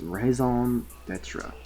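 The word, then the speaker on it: raison d'être: Raison. It's literally pronounced like raison. It's raison d'etre.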